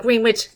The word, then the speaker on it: Greenwich: It's spelled Greenwich, pronounced Greenwich. Greenwich, England.